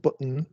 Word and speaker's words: button: T only changes to glottal stop before N syllable if the syllable is therefore button is pronounced button, but baton is pronounced baton.